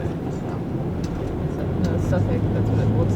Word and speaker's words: Southwark: So how's that Southwark word supposed to be pronounced? Suffolk. Okay. The way you're supposed to say it. No, Suffolk, that's what it looks like.